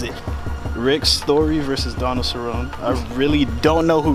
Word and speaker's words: Cerrone: don't know who Rick story is but Donald Cerrone Cerrone Cerrone know be be trying to correct you y y'all going to put it in the comment it's Cerrone sir pronounce it right no no no mess it